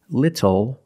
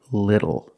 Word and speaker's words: little: but phonetically it is when you see tle or ttle phonetically the t is between vowels and for this reason the T changes to a fast D in American pronunciation that's why we do not say little we say little and we do not